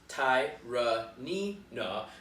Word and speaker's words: Tyranena: website the legend of tyranny nough pronounced ty nee na began long ago in